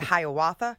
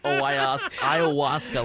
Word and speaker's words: ayahuasca: cave with him, but I kept calling it Hiawatha, right, Dylan? She messed up the pronunciation of ayahuasca like 5 times.